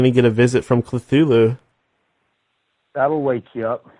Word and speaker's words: Cthulhu: can be pronounced a number of ways pootaroo kulu kulu or but most people pronounce it Sulu okay thanks for doing up but but Lovecraft himself said you should pronounce it like ku - ku hard on that yeah that's right who the